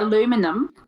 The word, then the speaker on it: aluminium: I think it's actually the same number of syllables, just that you put an emphasis on a different part of the word with aluminium. Well, You say yeah. aluminum.